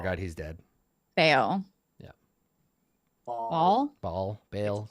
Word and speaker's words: Baal: So Whoa, it's Bane according was- according to the book, it's pronounced Bahal.